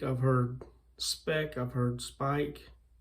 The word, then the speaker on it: Speick: And the pronunciation, I've heard a dozen different pronunciations for it, but it's, I've heard Speick, I've heard Speick, I've heard Speick, I've heard Speick.